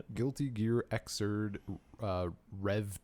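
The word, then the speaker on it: Xrd: Is it just pronounced Zord? Xzerd. Zd. Exz, I think is how I've hear people say it. Guilty Gear Xerd.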